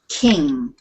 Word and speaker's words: King: sounded good okay so don't put a g or a c sound on the end it's King right and now we